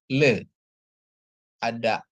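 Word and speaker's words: לאה: Sere dia jadi bacanya Le ada Al yang silent dikasih dengan eh nikut kamat dia jadi a ya jadi bacanya jadi Le A jadi bacanya Lea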